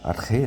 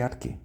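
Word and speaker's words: ἀρχή: Então, eh, eu gosto de falar arre, né? Porque é é a pronúncia, ele falou é é a pronúncia mais correta do que arquê.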